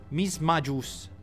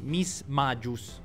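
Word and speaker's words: Mismagius: chancy il prima possibile misma gius no scusate miss magis dovrebbe essere la pronuncia corretta no manteniamo in poli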